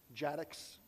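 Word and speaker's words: jadx: And then you can use command line tools like Jadex is pronounced Jaddx because it's Java DEX I guess.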